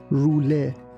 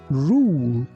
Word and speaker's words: rule: Here be careful that we don't say rouler, we say rule, rule.